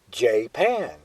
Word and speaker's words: Japan: me say that Japan unlike the country is pronounced Jan how did that name ever come about well the following is a story of not only how jpan got its name but also how it lost